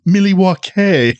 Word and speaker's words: Milwaukee: It's pronounced Milywake, which is alangquin for the good land.